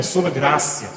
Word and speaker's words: gratia: sobre a solcia né muitas pessoas falam solag sol grcia é uma forma forçada da Língua Portuguesa de pronunciar mas como vem do latim é sol grácia sou como essa então